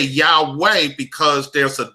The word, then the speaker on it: Yahweh: he was a german he took the u out of yahuwah and he put the w in and then they just made a sound like yahweh so you know people are starting to pronounce that as yahweh because they see the w that is there okay okay thank you